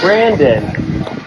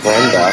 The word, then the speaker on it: Brandon: Brandon. Not Brenda.